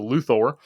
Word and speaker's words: Luthor: to call his character, I always call him Luther. Apparently, he's a Luor according to Gene Hackman.